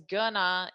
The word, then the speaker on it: going to: to this section here we pronounce it as gonna in spoken english and that's just a